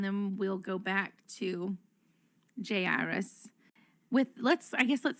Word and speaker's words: Jairus: i'm gonna start saying jairus that's how i'm going to call him i don't know how y'all pronounce his name jay iris jairus i don't know in the in the greek it's iris i don't know however